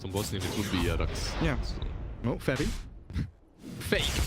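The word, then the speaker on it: Jerax: Yerax, no tail, looking for Moon.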